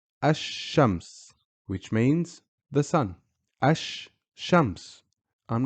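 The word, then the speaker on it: الشمس: the final word Ash which means the sun Ash Shams I'm not saying Al is for words that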